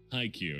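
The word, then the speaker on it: Haikyu: to be entertaining oh they're saying hi cue i can't yeah that's how it's pronounced iq exactly exactly see look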